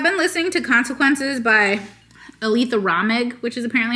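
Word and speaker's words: Aleatha Romig: Although I've been listening to Consequences by Aletha Ramig, which is apparently how you say her name.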